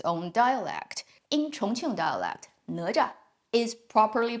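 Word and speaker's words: 哪吒: The proper pronunciation of his name in Mandarin would be Ne Zha.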